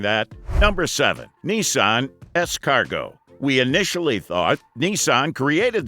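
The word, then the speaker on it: S-Cargo: up with the moniker escargot nissan opted to employ this unusual play on words pronounced like the french term escargot which means snail in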